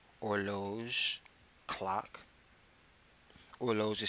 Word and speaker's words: horloge: Horloge is spelled Horloge. Une horloge, a clock. Notice that the initial H in horloge is usually silent in French.